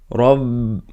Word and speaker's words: Rabb: Yeah, this ba is silent. Rabb.